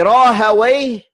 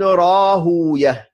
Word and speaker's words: Rahawayh: Quand on dit Rahawayh, c'est la manière arabisée de son nom. Mais si on veut garder son nom comme il est prononcé à la base, on dit Ishaq ibn Rahouya.